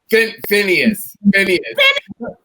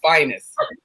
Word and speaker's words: Phineas: It's interesting, Mother Diva, because you actually pronounce my name the way they do in the South. because they always called my dad, who was a very famous pianist, Finest.